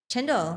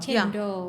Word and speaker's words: cendol: Chendol. Chendol. Chendol. Okay, C in Malay is pronounced ch.